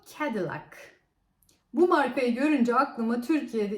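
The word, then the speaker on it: Cadillac: bir Amerikan araba markası Biz bunu kadillak diye okuyoruz Ama doğrusu kendi lak Bu markayı görünce aklıma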